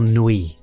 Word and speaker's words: nuit: And that's do you say nuit or nuit? I try and say it like a French person and say nuit.